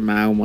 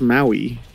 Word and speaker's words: Maui: is pronounced apparently malma no one says it malma it's pronounced Maui get it right ma malma Maui leave